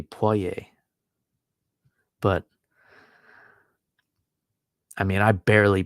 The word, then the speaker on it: Poirier: Like, it shouldn't be Poirier, right? It should be Poirier.